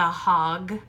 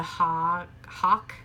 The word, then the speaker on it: hog: one of the kids was not saying the G sound at the end when he was reading the hog saw a dot. He was saying the hawk. He wasn't saying the G sound correctly.